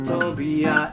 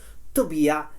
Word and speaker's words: Tobia: Tobia is an Italian name that rhymes with fattoria of the first line.